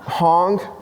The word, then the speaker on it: hang: right here yeah so these are called Hong Hong drums except they're spelled like hang ha a n g there's some other stuff